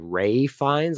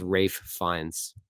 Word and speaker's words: Ralph Fiennes: always say Rafe I I thought it was like Rey finds I'm like why is it spelled like Ralph but I think he was supposed to say like Rafe finds so like the F in the rafe and the fun the fines get Blended together so it sounds like Ray finds I think it's Rafe